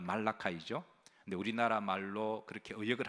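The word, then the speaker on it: Malachi: 말라기라는 말은 말라카이라는 말을 영어 발음을 이제 영어 발음은 말라카이죠 근데 우리나라 말로 그렇게 의역을 하다 보니까 그냥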